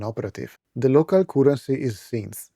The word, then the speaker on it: Scints: The local currency is synths, at least that's how I believe it's pronounced, since we're on the planet Scintilla.